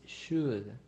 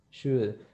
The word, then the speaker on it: should: a pronunciation it is should should it's not with ch it is with s h shh should just remember like choco